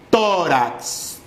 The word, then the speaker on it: tórax: Tórax. Sílaba tónica, to.